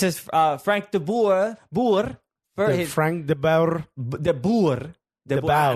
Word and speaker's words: de Boer: Frank de Boer. De Boer. Now, I know for sure I'm saying it right according to Igor Mortis of de Portland. Boer? De Boer. Yeah, de Boer.